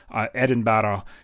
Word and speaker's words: Edinburgh: from Glasgow to to Edinburgh - and sorry say it like I'm a Scottish Eddin battle - Stirling Castle where